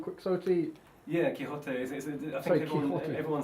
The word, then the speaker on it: Quixote: How do Spanish people say Quixote? Quixote. And in English we just said like Quixote, like as in like the same.